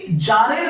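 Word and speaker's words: tsar: গেলে নয় উচ্চারণটা হবে যার এখানে টি এর উচ্চারণটা হবে না আর যার কাকে বলে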